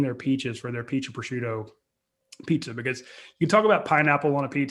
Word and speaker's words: prosciutto: by the europa location grab a peach and prosciutto uh you said it right attaboy hey i